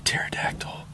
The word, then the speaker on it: pterodactyl: can't you hear a pterodactyl going to the bathroom cuz the p is silent God somebody asked